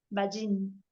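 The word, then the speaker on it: Ballín: un guión, Balín, B alta y doble L, Balín.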